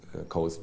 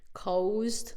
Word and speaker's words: caused: The cost of living crisis caused by the Orbán government. Caused, tehát ott mindegyik magánhangzót kiejtette, de igazából csak a-t kéne mondani, caused.